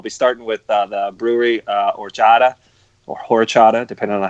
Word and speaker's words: horchata: ones, but I'll be starting with the brewery Horchata, or Horchata, depending on how you want to pronounce it. But 7.2%. Someone correct him, please. It's Horchata.